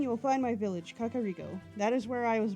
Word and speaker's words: Kakariko: Okay, so I know that it is actually Kakariko. Like, that's how it officially is. That's how they say it in Breath of the Wild. I've pronounced it as Kakariko for so long that it's hard for me to shift to Kakariko.